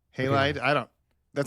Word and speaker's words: Halide: you halide halide yeah that's what I say halide I don't that sounds like it's not Hal